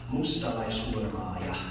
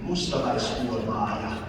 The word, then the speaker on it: Mustalaishurmaaja: It's Mustalaishurmaaja. After me, ready? Mustalaishurmaaja.